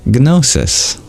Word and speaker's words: gnosis: the word gsis or as they pronounce with a g in front gnosis and the Greeks got